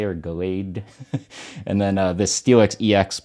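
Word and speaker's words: Gallade: this, I'm going to say it wrong again, Galade or Galade, and then this Steelix EX, which is a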